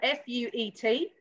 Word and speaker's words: fuet: Pols, fuet, which is spelled F-U-E-T, or chorizo?